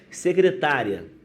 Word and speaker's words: secretária: Secretária, né? O acento está no tá, secretária, né?